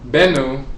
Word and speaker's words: Bennu: Now, Bennu is pronounced Bennu or Ben, or sometimes Ben, but it's spelled B-N-B-N in ancient Kemet.